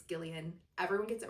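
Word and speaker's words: Gillian: I went to a book night where she was last week and now we know it's not Jillian, it's Gileian.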